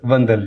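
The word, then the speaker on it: Vandal: तो एक लफ्ज़ की प्रोनाउंसिएशन का भी थोड़ा जहा कि वंदल है या वंडल है, ए वंदल जी जनाब प्रोफेसर परवेज वंदल जी, ताड़ियां ताड़ियां।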